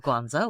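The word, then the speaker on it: Guangzhou: By the way, great pronunciation, not just of Canton, but Canton is not how you say it in Chinese, but Guanzo was really good.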